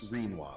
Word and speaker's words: Renoir: Listen, and I know everyone hates the grammar guy, but it is pronounced Renoir, like quinoa.